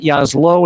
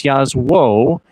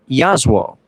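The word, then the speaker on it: Jasło: It's not Yaslo, it's Yazwo, it's not Zarnney, it's Charnie. Charnie Yazwo. It is Polish in derivation.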